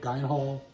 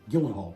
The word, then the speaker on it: Gyllenhaal: researcher robert grey smith's book starring uh jake gein hall i pronounced that right gyllenhaal pardon me mark ruffalo and robert downey jr